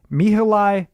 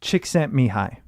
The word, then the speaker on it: Csikszentmihalyi: so I actually think I know how to pronounce it because I've referenced this a few times and it's me who lie Csikszentmihalyi yeah what he said I'm pretty sure that's